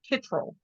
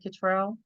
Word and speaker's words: Kittrell: you're absolutely right because in North Carolina it's pronounced Kittrell, and but I grew up with my relatives, some of them pronouncing it Kittrell, and Okay. so I've always said Kittrell. But when I go to North Carolina, they say Kittrell, so I have to accept it. I can't change it.